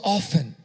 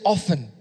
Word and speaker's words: often: The rain which comes often. Can say often. Stephen say often. Like Stephen. It rhymes with your name.